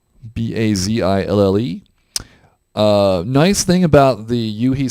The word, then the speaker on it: Bazille: One is Botzilla. That is pronounced Botzilla. Bazille.